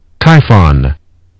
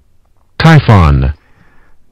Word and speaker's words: Typhon: press the sound again typhon that is the original way to pronounce this name typhon not t y p h o o n type not typhoon but typhon typhon that's dictionary meaning